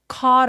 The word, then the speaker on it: caught: A poor fisherman caught a golden fish. 자,이는 캐치라는 동사의 과거 동사거든요. 근데 얘가 gh는 묵음이에요. 턱을 엄청 길게 벌려서 소리를 장모음으로 길게 내 주는게 포인트입니다.